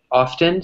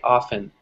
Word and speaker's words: often: some English speakers say often some people say often in the United States we save more often we don't pronounce the T right so usually often